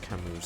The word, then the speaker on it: Camus: Yeah, it's pronounced Camus sadly. It's apparently how the French would do it.